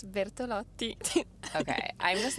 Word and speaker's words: Bertolotti: Okay, it's Bertolotti.